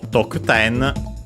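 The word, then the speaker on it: 得点: So, Tokuten, unaccented, as already mentioned, means scoring, score.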